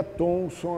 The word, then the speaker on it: Thomson: E esse John Thomson, ele é Thomson assim mesmo, porque muita gente às vezes acha que está errado, porque o nome mais comum é Thompson, né? Mas ele se escreve assim, John Thomson.